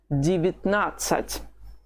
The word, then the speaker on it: девятнадцать: Please notice this strange thing that happens with the stress. It has always been on the second syllable in the words from 11 to 17. But these last two words, 18 and 19, do they have the stress on the second syllable? No, it's on the third syllable, or the third vowel.